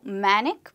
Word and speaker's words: manic: So someone who acts panicked is a manic person and you'd not call it manic but just like panic, manic also rhymes with panic.